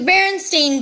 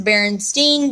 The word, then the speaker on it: Berenstain: Seuss is credited the berenstain bears which is also known as the Berenstein bears which is also do the Mandela defect